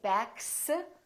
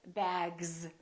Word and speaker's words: bags: This S, we don't say bags, we say bags.